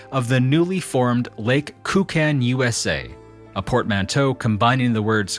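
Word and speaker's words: Koocanusa: By the Waters of the newly formed Lake kuchan USA a portmanto combining the words cutney Canada and USA the locals request that we pronounce it that way kuchan USA say rather than say kukin USA to prevent others from mistaking the name as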